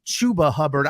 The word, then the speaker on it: Chuba Hubbard: I like it's Chuba Hubbard. I think it should be Chubba Hubbard because it rhymes. Come on, Chubba Hubbard, not Chuba Hubbard.